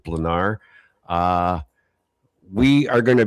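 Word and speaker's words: Blanár: Well, well, I I guess um the Czech pronunciation is dependent on where the accent is and I believe it's over the A not the R, so we're going to go with Blanar.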